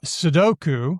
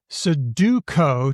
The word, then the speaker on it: sudoku: It's amazing if you want to hear a whole bunch of people pronouncing things. And so sedoku which is the I guess the real name 41 people said that seduko two people sudoko one person seduku four so